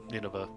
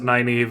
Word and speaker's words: Nynaeve: I would not be surprised if Lan ends up rescuing Nineveh, her. I think they pronounce it Nynaeve in the show, but then I'm just thinking of Neil Stephenson and Nynaeve nails.